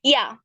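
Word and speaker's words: Ja: স্লাইডে হ্যাঁ থাক আচ্ছা ইয়া যে কে আমরা ইয়াতে হচ্ছে মানে উচ্চারণ করি কিন্তু হচ্ছে ইয়ট যার কারণে জি আর একে বলি এই জন্য এটা হচ্ছে ইয়া ইয়া মানে হচ্ছে ইয়েস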